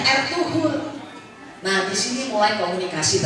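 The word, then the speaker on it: Ertuğrul: yang membawa kepala itu bernama air tugrul tulisannya dibacanya R2 Nah di sini mulai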